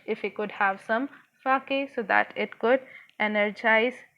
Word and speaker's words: sake: book, it is written the pronunciation for S-A is fa from father and K is pronounced like you pronounce way. So it is sake.